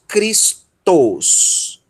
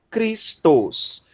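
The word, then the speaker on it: Χριστός: E o tal ômicron sigma vai formar tos, Cristos. Cristos. Que a palavra é tal qual no português nós pronunciamos tal qual no grego, com exceção do sigma final, tá? Mas o restante da palavra é exatamente igual, ok?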